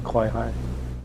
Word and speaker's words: Kawaihae: I've said it before, and you might think it should be Kawai'i, but really... And to me, that was the lesson in Kawai'i.